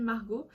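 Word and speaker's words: Marjaux: mon prénom, je m'appelle Margot. Margot qui s'écrit M-A-R-J-A-U-X et non O-T comme certaines.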